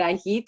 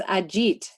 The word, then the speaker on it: Ajit: your name right so i speak spanish as well and i've been pronouncing it with a spanish pronunciation i've been saying it i heat and i and so i've been corrected it's it's um it's ajit is that right i